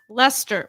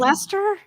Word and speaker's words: Leicester: And it's Leicester. What? Yes, This exactly. is Leicester?